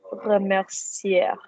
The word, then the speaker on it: remercier: Je voudrais te remercier. Remercier. Don't pronounce the R. We're not Spanish yet.